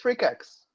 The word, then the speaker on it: Freqax: it as Facebook debates before, is how to pronounce your artist name. It's Freqax.